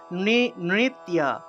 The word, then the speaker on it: নৃত্য: সংস্কৃত কিভাবে উচ্চারণ করব নৃত্য নৃত্য নৃত্য এইভাবে উচ্চারণ করতে হবে অর্থাৎ যে জায়গাতেই আমরা জ ফলা পাবো সেই জায়গাতেই আমরা ইয় উচ্চারণটা করে ফেলবো ঠিক আছে ইয় উচ্চারণটা করতে হবে তারপর দেখুন দন্তস্য দন্তস্য